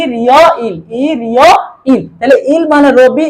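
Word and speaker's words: 일요일: ইল ইয়ো ইল রবিবার তো আমরা এটা বাচ্চিম উচ্চারণ সহকারে বলবো বাচ্চি বা স্বরবর্ণ থাকলে উচ্চারণের সময় বাচ্চিম উপরে উঠে যাবে তাইলে ইল ইয়ো ইলটা হবে ই রিয় ইল ই রিয় ইল ই রিওয় ইল তাইলে ইল মানে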